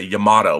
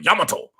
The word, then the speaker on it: Yamato: For those of you who don't know what Space Battleship Yamato, or as Americans say, Yamato, but it's really Yamato.